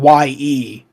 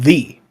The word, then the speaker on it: ye: that's why you see ye for like ye old, but it's actually not pronounced ye; it's pronounced thee.